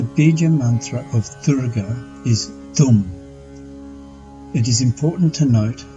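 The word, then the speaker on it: दुं: Also, the vowel in this mantra is a short vowel and is pronounced U, as in the English word book. So Durga's Bīja mantra is Dum.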